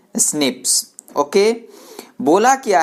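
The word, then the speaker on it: SNP: tight polymorphism यानि एसएनपीएस उसको pronouns किया जाता है कैसे स्नेप ओके खोला किया है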